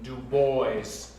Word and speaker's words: Du Bois: I believe the man pronounces his name Du Bois.